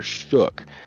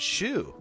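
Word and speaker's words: Schough: they went with Tyler Shook. Now let's watch some of Tyler. Dude, it's pronounced Shook or some like that. Or Shu. It's Shu. It's not Shu.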